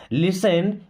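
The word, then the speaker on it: listen: अब इस वर्ड में दोस्तों टी साइलेंट होता है, इसको लिस्टन नहीं पढ़ते हैं। लिसन मीन्स सुनो।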